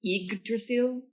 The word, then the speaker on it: Yggdrasil: I think we discussed how to pronounce the name of the ship. It's Yggdrasil.